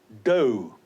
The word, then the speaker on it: dough: Then we have dough. D-O-U-G-H, and the O-U-G-H is pronounced as O.